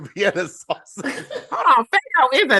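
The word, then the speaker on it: Faygo: It's it's it's never Fuego. It's FGO. Whatever.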